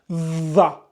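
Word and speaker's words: ظَ: comme pour celui-là, et on les lit za, za, za. Pareil. Votre objectif, c'est de lire za. Vous voulez lire un za, Z-A. Mais essayez de prononcer za, mais en mordant la langue entre vos incisives.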